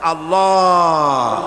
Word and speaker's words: আল্লাহ: আল্লাহ পাকের উচ্চারণটা হচ্ছে, আল্লাহ পাকের নামের উচ্চারণ হচ্ছে আল্লাহ। মুখটা একটু গোল হয়ে যাবে, বলেন আল্লাহ আল্লাহ সুবহানাল্লাহ।